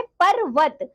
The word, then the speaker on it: पर्वत: जो हमारी र से रेप की मात्रा होती है बच्चों वह अक्षर से पहले उसका उच्चारण होता है। जैसे कि होता है पर्वत और इसी तरह बच्चों जो पदेन की मात्रा होती है उसे हम अक्षर के बाद पढ़ते हैं। जैसे कि चक्र। ठीक है ना?